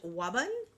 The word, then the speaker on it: Wabun: All right, Pisces, last but not least, you got East Wabun. And I'm going to show the card here. I was like, is she trying to say Robin? No, Wabun.